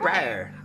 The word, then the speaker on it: Briar: Briar.